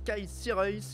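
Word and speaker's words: Sierhuis: 2019 son prénom s'écaille on prononce kaissi raïs mais alors comment on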